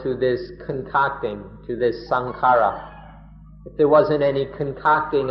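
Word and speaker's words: saṅkhāra: For example, in Thailand most often sankara just means the body. People Thai people speak of sankara or sankan in the Thai pronunciation.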